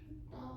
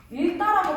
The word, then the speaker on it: 읽다: 근데 이거 우리가 정말 잘못 발음하는 것 중에 하나가 일다라고 발음하는 친구들이 정말 많아. 음. 일다가 아니에요. 이거 바르면 어떻게 해야 될까? 리을 기억이니까 뭐가 떨어져야 돼? 리을이 떨어져야 돼. 엥? 진짜요? 어? 진짜요? 발음 어떻게 해? 있다. 책을 있다라고 말하는게 맞아. 오케이.